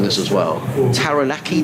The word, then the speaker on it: Taranaki: plymouth and i'm gonna make a mess of pronouncing this as well taranaki t-a-r-a-n-a-k-i taranaki proud home of will young looking forward